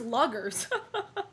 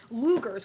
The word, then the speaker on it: Luger: Wait, that's how you pronounce that gun? I thought it was Luggers. Lugers.